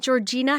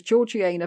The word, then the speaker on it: Georgiana: It's not Georgina, how we pronounce it over here? Everybody else would say Georgina or Georgiana, but no, she was Georgiana because they had the upper class at that time had a special way of a special lingo.